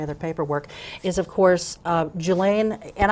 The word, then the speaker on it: Julaine: paperwork is, of course, Julaine, and am I pronouncing her first name right? Julaine. Yeah, mm-hmm.